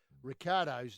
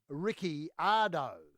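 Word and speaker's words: Ricciardo: dnf maestro uh that mark webber chooses to pronounce the the new dnf maestro and the dns as in did not start maestro ricardo's name differently to the rest of the world weber went to great plains to include an eye in the pronunciation i.e ricky ardo yeah rather than ricardo well that's how it's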